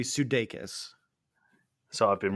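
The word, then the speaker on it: Sudeikis: pronounce his surname because I've been saying sakis or sis uh from what I understand it's supposed to be sudes so I've been wrong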